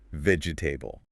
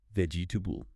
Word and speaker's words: vegetable: B L E The anxiety here comes from trying to pronounce every single vowel. vegetable Four syllables, but in natural English, we delete the middle E. It becomes three syllables. vegetable vegetable Much faster.